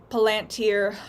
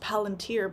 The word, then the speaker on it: Palantir: First Amendment, is with Palantir, or, they're saying it's pronounced Palantir, but, me being a Lord of the Rings fan, I say Palantir, because I know what they're trying to do.